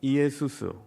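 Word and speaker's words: Ἰησοῦς: 예 똑같은 발음이에요 여호수아 헬라어로 발음하면 이에수스 우리가 말하는 예수 이래 되는 겁니다 예수님 그분이 그리스도라는 거예요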